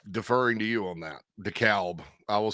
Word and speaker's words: DeKalb: What do you know about DeKalb, Illinois? I think that's pronounced DeKalb.